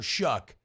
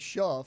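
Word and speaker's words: Shough: you've heard Tyler Shuck, you would never guess his name is spelled sh H o u g h. G. I would just say show either or show. Tough and rough. I would think shuff.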